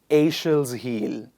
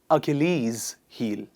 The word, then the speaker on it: Achilles heel: to pronounce isn't it i've seen a lot of people pronouncing it as a shall's heel it's not a shield's heel please repeat after me it's achilles heel what is it i'll